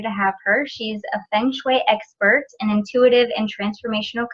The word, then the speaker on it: Feng Shui: It is Feng Shui. Yep, you've got, Feng Shui, exactly. It's the Chinese language, so that's its Phonetically, heritage. it's a little bit confusing because it's spelled totally different.